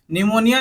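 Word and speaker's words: pneumonia: है एन से पढ़ना स्टार्ट करना है लेकिन स्पेलिंग में लिखने समय पी भी लिखेंगे निमोनिया निमोनिया क्या है एक बीमारी होती है लक्स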